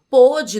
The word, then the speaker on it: pôde: Note que a forma verbal pode no presente tem o som mais aberto. Pôde, no passado, que é o caso dessa frase, tem o som mais fechado, recebe, portanto, o acento